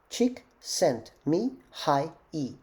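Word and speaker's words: Csikszentmihalyi: with unpronounceable name and how do you remember this name chick sent me hi e chick sent cheek kind of a nice chick sent me high e chick sent me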